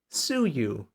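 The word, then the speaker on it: Suyu: think about that just think about it phonetically the way you heard it take take the two syllables s Yu sue you anyways uh they've been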